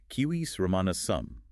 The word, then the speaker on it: Civis Romanus sum: He even did the same for the Latin phrase, writing it phonetically, using the classical pronunciation as Civis Romanus sum, utilizing a K sound for the C and a W sound for the V.